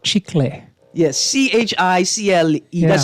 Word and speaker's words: chicle: I pronounce the CLE as kul, Yeah. but it's chicle.